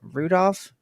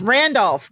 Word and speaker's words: Randolph: wrong before I like is it not Rudolph it's Randolph God I knew that